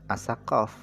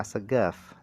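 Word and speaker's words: Assegaf: bin Muhammad bin Toha as-saqaf. Saqaf ini bacanya as-segaf.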